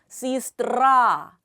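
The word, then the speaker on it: сестра: 써 있죠 에스 뜨라 하지만 엑센트 앞에 얘가 있기 때문에이 얘는 어떻게 읽는다 2로 익습니다 시스트라 역시 엑센트에 대한 규칙은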